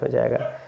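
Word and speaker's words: whose: हो जाएगा तो होल डब्लू देखिए डब्लू के बाद एओ है तो आपका डब्लू साइलेंट हुज डब्लू के बाद एओ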